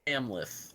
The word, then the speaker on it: Amleth: Amleth. There you go. Amleth.